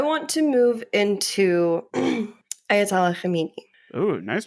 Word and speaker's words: Khamenei: I want to move into Ayatollah Khamenei. Oh, nice pronunciation.